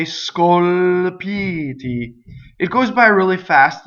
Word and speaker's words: scolpiti: So that's a mistake in this word because it's Scolpiti, right? So the stress is on the E vowel before the T, right?